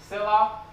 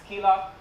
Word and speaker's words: Scylla: so I'll talk about silah uh if you're Greek you're allowed to pronounce it as skila but otherwise it's Sila uh so let's start